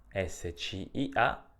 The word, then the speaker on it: scia: i in questa sillaba SC ia si pronuncia scia come nella parola sciarpa o fascia e se cie si